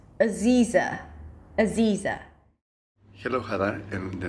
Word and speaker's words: Aziza: I would focus on that and then place the primary stress on the second syllable, Z, which has to be a long E sound, so pull your lips to the sides, and then just reduce the beginning and ending syllables.